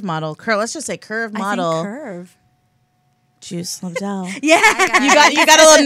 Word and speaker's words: Lobdell: Is it Lobder? Lobdell? And I'm like, Lobdell. Yeah, it's French.